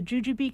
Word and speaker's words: Jujube: Baldwin Kiland, the author of Murder of the Jujube Candy Heiress, a Coronado cold case. Am I pronouncing Jujube correctly, Taylor?